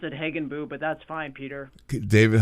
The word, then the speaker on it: Hagenbuch: We pronounce it Hagenbuch, but that's fine, Peter.